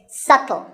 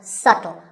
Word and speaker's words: subtle: you say it it's subtle the b is silent subtle means something that is difficult to notice or something that isn't obvious and once again the word is pronounced subtle another popular word with